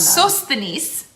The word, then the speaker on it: Sosthenes: Sosthenes is how you say his name.